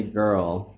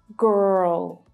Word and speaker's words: girl: In British English and Australian English, this R is silent, and it's the vowel sound that is much clearer.